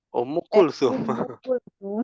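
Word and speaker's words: Umm Kulthum: Ummu Kulthum.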